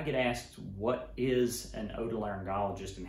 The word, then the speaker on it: otolaryngologist: here so i get asked what is an otolaryngologist and how do you pronounce it well that's how you pronounce it